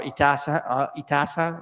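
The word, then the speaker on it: इतिहास: in our history, our itasa, how you pronounce that? Itihasa, right? Itihas.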